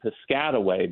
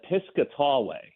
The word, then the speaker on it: Piscataway: in a town named Piscataway but um I've heard national uh uh announcers call it piscatway and I'm just I